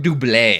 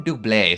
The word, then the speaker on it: doublet: Shout out to the one time where I realized I was pronouncing it wrong the entire time. I always called it warm doublé. I don't know why it sounds so fancy. Sounds French. A warm doublet.